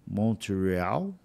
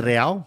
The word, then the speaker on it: Montreal: o que que é Montreal é Montreal Montreal igual se igual se escreve se lê se lê igual escreve É tá eu achei que era em inglês Mont real tá ou pode ser também tá E aí a